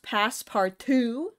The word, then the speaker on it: Passpartout: I I think it's probably pronounced past part two because it's French you're in France I